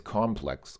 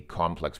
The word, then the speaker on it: complex: Like if you say that something is complex, also you're emphasizing the first syllable. You can have a complex problem. But if it is used as a noun, then it becomes complex. This is not the complex, but the complex, isn't it?